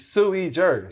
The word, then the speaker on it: sui juris: It's sui juris.